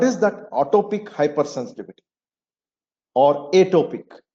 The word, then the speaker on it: atopic: And what is that atopic hypersensitivity or atopic? Atopic or atopic, both ways it can be pronounced, which is nothing but